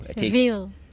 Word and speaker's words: Sevilla: Seville. So yeah, Or yeah. well, I also say Sevilla. because it's the Or name.